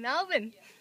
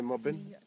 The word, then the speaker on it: Melbourne: There's a R now. Yeah, but we don't pronounce that.